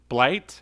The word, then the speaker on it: Blight: Blight? Oh, I got the name wrong. Yeah. Okay, all right. Yeah, Blight.